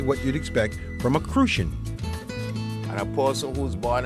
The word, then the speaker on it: Crucian: Those of us who are born and live in St. Croix are referred to as Crucians. Crucian. You gotta say it like that, Crucian.